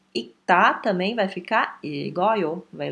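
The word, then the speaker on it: 읽다: A pronúncia dele vai ser ita, né? Tá aqui. Porque o Rzinho ele é um pouco mais fraco do que o K.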